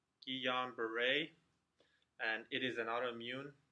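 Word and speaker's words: Guillain-Barré: is G hombre syndrome so first it is pronounced ji-yong beret and it is an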